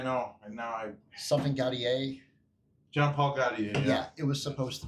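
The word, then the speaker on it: Jean-Paul Gaultier: Oh, you're talking about Cartier, right? Is that how they say it? Maybe. No, he says Jean-Paul Gaudier. Oh, he does. Oh, okay. Gautier or whatever.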